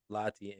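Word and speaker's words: Lahti: playing professionally overseas uh lot how do you pronounce it lot LTI yeah l a h t i just lty yeah LTI lty in Finland man sir grew up saw this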